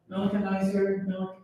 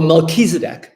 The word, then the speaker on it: Melchizedek: Now, didn't I'm gonna mispronounce his name, Melicanizer, No, I know what you're referring you know, to. the Canaanite. The Amalekites. The Canaanite priest, Oh, Melchizedek.